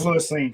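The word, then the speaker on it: Lewis Cine: I was like, oh shit, I hate when I pronounce guys' names. I've seen him enough at Georgia. It's Louis Cine, trust me.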